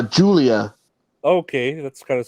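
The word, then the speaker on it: Giulia: me this uh what how do you say it guia no uh Julia okay that's kind of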